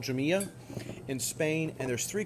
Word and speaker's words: Jumilla: Jumilla, and by the way, it's spelled J-U-M-I-L-L-A.